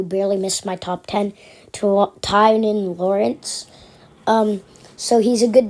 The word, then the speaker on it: Tynan: So Tynan Lawrence, I always want to say Twan because that's how it's spelled. But Tynan Lawrence barely misses out on my top 10.